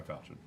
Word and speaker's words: falchion: It's pronounced falchion.